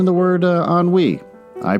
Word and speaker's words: ennui: I read suffered from what I pronounced as ennui. E-N-N-U-I. I told my daughter, after I recorded the episode, she doesn't listen to the podcast or anything, and I said, I had to pronounce words every once in a while like ennui. And she said, "Do you mean ennui?" And I said, "No, ennui." And she said, "You're mispronouncing it. It's ennui. It's French.